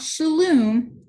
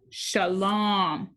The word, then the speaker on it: shalom: shook his head no not shalom shalom that's a long o sound like home say it with me